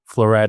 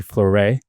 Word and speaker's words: Floret: So again, I'll say floret is spelled floor, so f l o o r e t. If you're bougie, floray.